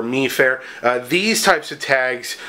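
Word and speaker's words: MIFARE: you'll see them and I believe it's pronounced my fair and uh or meair uh these types of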